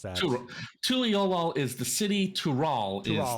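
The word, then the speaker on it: Tuliyollal: So they did a lot of Central and South America with the southern part of Tulioli. However you pronounce that. Tuliolol is the city.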